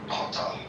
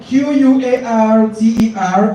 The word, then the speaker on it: quarter: The C-U-T-T-E-R is the quarter, right? Then Q-U-A-R-T-E-R is quarter, okay?